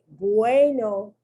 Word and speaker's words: bueno: The U is pronounced like a W, bueno.